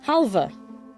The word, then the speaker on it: halva: please please please but that's apparently pronounced halvah today I learned so